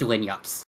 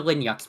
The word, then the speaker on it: Linux: it was that it mispronounced Linux as Linux. That was the only thing wrong with it. Other than that, it was perfect. And Windows 10, they fixed the Linux bug.